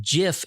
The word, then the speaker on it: GIF: It's pronounced GIF, just like in peanut butter.